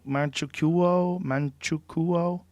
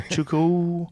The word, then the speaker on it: Manchukuo: Manchukuo? How do you say that? Manchukuo? Yeah. But Manchukuo? the U and the O together, how do you say that? Probably just sneeze it, basically. Chuku.